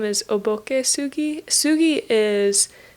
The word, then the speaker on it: sugi: Sugi is how you say cedar.